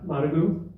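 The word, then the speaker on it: Managua: clubs is providing these filtration systems to uh managu is that by saying it correctly yes yes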